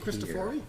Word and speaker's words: Christophori: management regulations this uh Nick christophori is that how you say it yes okay essional engineer from